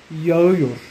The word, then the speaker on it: yağıyor: En turco, para decir está lloviendo ahora, yağmur yağıyor. Yağmur, yağmur yağıyor. Yağmur yağıyor. En turco, la letra G suave no se pronuncia. Alarga la vocal anterior.